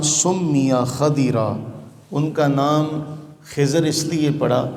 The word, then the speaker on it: خضر: خضر اس لیے پڑا، یاد رہے کہ اس کا صحیح تلفظ خضر ہے، خا کی زبر کے ساتھ اور ضاد کی زیر کے ساتھ، ہمارے عرف میں خضر کہا جاتا ہے۔ کہا کہ ان کا